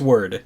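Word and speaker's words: wyrd: of weird word word it's word that's what you want me to say right yep which is which is what what is weird about that word is that it's spelled it's spelled w y r d no that's not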